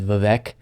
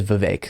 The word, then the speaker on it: Vivek: he is actually correct I for a while mispronounced it as Vivek and a lot of people have said vivac knowledge everything it is Vivek so Trump's correct on